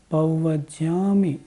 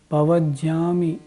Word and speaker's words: पव्वज्जामि: पव्वज्जामि में चत्तारि शरणम पव्वज्जामि यह शुद्ध उच्चारण अक्सर लोग कैसे बोलते हैं चत्तारि शरणम पवज्जामि यह गलत हो गया ऐसे नहीं बोलना जाता हरि शरणम पव्वज्जामि अरिहंते